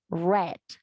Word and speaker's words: read: to pronounce different um you have to pronounce past form as red okay i read a